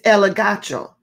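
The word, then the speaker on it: elegcho: The word convict or to reprove in the Greek is elegacho. It's spelled E-L-E-G-C-H-O.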